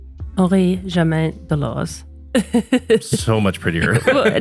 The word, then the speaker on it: Henri-Germain Delauze: it was the personal watch, and excuse my pronunciation, of Henri-Germain Delauze. Henri-Germain Delauze.